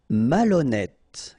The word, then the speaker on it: malhonnête: décider, malhonnête. Okay, remember, H doesn't exist, so malhonnête. Don't insist on the final E. Malhonnête. And here you get E accent circonflexe, so you pronounce it like E. Malhonnête.